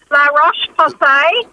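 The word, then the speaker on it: La Roche-Posay: very fair skin and she wears use the pronunciation the French brand L rash POS and it's a larash um POS and it's a um hydrating moisturizer with an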